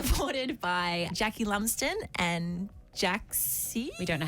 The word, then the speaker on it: JXCKY: supported by Jackie Lumsden and Jaxie. We don't know how to say it. Yeah. Jaxie or Jackie. JXCKY. How would you say Jackie, that? Jackie. It's Jackie, yeah.